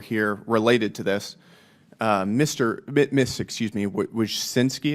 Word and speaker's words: Wojcicki: Miss Wojcicki, is that how you pronounce it? Yes, Wojcicki. Wojcicki.